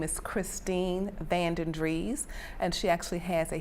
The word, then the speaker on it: Vandendries: Vandendries, V-A-N-D-E-N, capital D-R-I-E-S, Vandendries, yes.